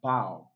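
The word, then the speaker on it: bough: have bow bound okay the gh in option a does not give us the sound okay it's pronounced as bow let's say gh absolutely silent option b we have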